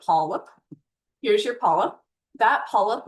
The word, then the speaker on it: polyp: Looks like polyup but polip.